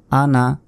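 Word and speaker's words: أَنَا: second চিকন চিহ্ন আছে আনা ওয়ালা আনা এখানে নুন আলিফ জবর না এক আলিফ টান হতো কিন্তু এই সূরার এইখানে টানা যাবে না কারণ আনা শব্দটি টানতে মানা আনা শব্দের অর্থ হচ্ছে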